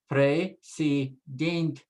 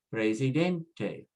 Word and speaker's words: presidente: Now, because it now ends in a vowel, we have to put the stress on the second to the last, next to the last syllable. So we say presidente, presidente, permanente, cliente, put the